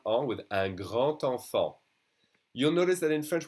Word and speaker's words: grand enfant: So here, the D would be pronounced like a T when you do a liaison. So it would be un grand enfant, a big child.